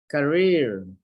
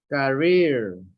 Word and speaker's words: career: Career. Career. Not career, it's career. So the stress is here.